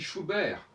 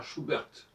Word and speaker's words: Schubert: nous avons par exemple on dit schubert alors que partout on dira schuberth les pays mais on